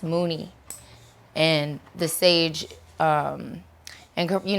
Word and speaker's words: Munilong: an ancient sage but it's pronounced mooney and the sage and